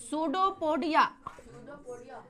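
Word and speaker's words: pseudopodia: सूडोपोडिया। कौन पोडिया? हाँ, P silent रहता है।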